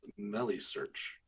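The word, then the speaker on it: Meilisearch: yeah just to add I think it might be pronounced Melly search um we had a big discussion between this internally about is a Mel search Mel search Melly search Miley search which was I was written for but no I I think they said Melly so like rhymes with smelly all righty I'll take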